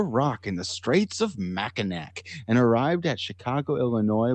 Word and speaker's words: Mackinac: Now, this is one of those things where people from Michigan pronounce it differently, so it's not Mackinac. Apparently, it's Mackinac. Apparently, that last C is cute.